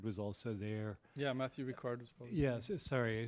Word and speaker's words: Ricard: also a team of people I think Matthew Richard was also there yeah Matthew Ricard Wasa yes sorry I said his name wrong um anyway I was able to interview